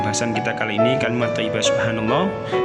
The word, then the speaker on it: subhanallah: Sehingga ketika dibaca menjadi subhanallah. Coba ditirukan di rumah ya. Saya ulangi lagi, subhanallah. Coba dibaca berkali-kali sehingga bisa membacanya dengan fasih dan benar.